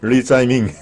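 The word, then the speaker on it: 李在明: 리짜이밍. 리재명. 예, 이재명이 중국식 발음입니다. 리짜이밍.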